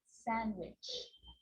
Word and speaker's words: sandwich: can be silent too wednesday handsome sandwich so i'm not pronouncing the d in sand to which i'm just pronouncing the consonant n sound before try it listen one